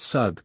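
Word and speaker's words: Sūg: rendered in magin and the Sulu pronounce it and write it sug sug means a sea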